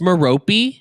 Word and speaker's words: Merope: It's Merope. It's like the Greek way to pronounce it. Is how on the audiobook they say Merope.